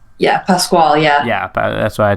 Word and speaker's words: Pascual: welcome Ramona Pascal to the show am I pronouncing the name right yeah Pasquale yeah yeah that's what I thought yeah you're